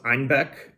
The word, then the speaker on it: Einbeck: in the 15th century bavarians pronounced einbek as ein bach which is a homonym for the german word for goat which explains the long